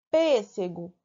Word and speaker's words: pêssego: o que é proparoxítona pêssego mesma coisa pêssego B ali na antepenúltima é proparoxítona sim tem a senha sim